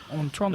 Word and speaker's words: Otranto: novel The Castle of Otranto, I think is how you say that. Otranto. It's like Tonto, but with a Otran at the beginning.